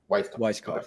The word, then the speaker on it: Weiskopf: out there and the viewers out there it's weisskoff okay yeah sweet let's do it we're so